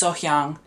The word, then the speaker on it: Sohyang: I think I'm starting to say her name right. I looked at the comments and I actually watched what people were saying about the pronunciation, so I think it's Sohyang.